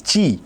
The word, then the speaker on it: chi: spelled by like this chi, but while spelling we say ch is k, so it's chi. Okay, ch is spelled as ka, so this is chi.